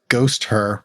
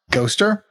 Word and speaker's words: Ghosther: of our friends in GHOSTHER, which I think is how it's got to be pronounced. GHOSTHER? Like a Pokemon, maybe. Haunter, GHOSTHER.